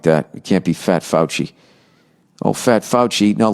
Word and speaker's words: Fauci: um all right nia how do you present pronounce f-a-u-c-i fouchy i was gonna say fosse who's dr fauci i